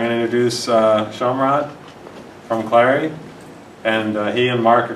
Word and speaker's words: Clari: I want to thank Clari for sponsoring tonight. Said it right. I pronounced it right.